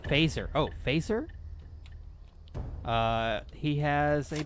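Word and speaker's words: Feser: If you're interested in a modern theomistic philosopher who's into things like comics, try Edward Fesser. Pronounced Phaser.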